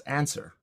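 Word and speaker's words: UNSR: unified neural semantic representation u n s r which you can pronounce as answer and it can answer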